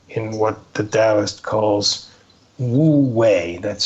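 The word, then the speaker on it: wu wei: but rather living in what the Dowist calls wooi. That's spelled wu wii.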